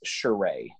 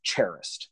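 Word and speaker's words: Charest: wrong I believe it's shereé is the last I believe it's a French pronunciation but I don't even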